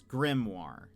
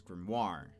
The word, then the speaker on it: grimoire: but I feel like the American pronunciation is grimoire, where the the empasis is on the the first syllable. Um, grimoire versus grimmoire. I would say grimmoire sounds more uh uh f it sounds fancy.